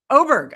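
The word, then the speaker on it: Åberg: Is it Aberg or Aberg? Aberg. Aberg. I'm not I wasn't even right.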